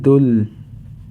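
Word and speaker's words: 둘: कहते हैं हाना हाना टू को हम कहते हैं दुल ी को हम कहते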